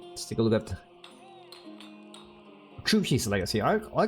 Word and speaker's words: Zhu Xi: call it Tris Legacy because the way you pronounce in Chinese the t h u you need to put your tongue on top of it it's like true something like this so you you call it a TR try Legacy and I